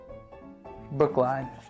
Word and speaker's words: Brookline: Brooklyn? I don't know. Brooklyn? Oh, Brooklyn. Brookline. Brookline. That is correct.